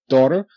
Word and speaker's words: daughter: like Daddy taught his daughter how to ride a bicycle daddy taught his little daughter how to ride a bicycle good Tau daughter d a da doter okay now g h is silent okay but you see